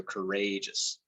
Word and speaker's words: courageous: like with courage uh you actually are changing the pronunciations stuff so you know while you say courage uh you you sort of put more emphasis on the a and courage with courageous right so courageous um so that's one